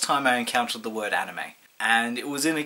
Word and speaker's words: anime: saw that word I didn't pronounce it as anime I I pronounced it as anim an Nim to be fair it was only half off